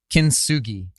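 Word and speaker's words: kintsugi: gonna say this wrong i'm gonna say it wrong i might not you related your journey to the japanese art of kinsugi yes you said it right so so tell us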